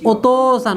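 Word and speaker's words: お父さん: এরপরে এখানে আছে কি ওতোসান, ওতোসান মানে কি অন্যের বাবা, তাই না? তাহলে এখানে এটার উচ্চারণ শুধু তো, এটার উচ্চারণ কি তো, ও তো সান, ও তো সান।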